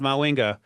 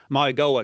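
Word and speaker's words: Mauigoa: And uh if you watch that Miami game from 2024, Tyreek had his hands full with Francis Minga, Maui Goa, excuse me, I got to get that right pronunciation.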